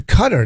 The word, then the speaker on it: Qatar: about a country okay Qatar's now pronounce cutter I was like why